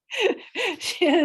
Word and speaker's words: Shanna: Shanna Shabinsky. She's an emergency management specialist. Sorry, guys, when she told me how to say her name, she said it rhymes with banana.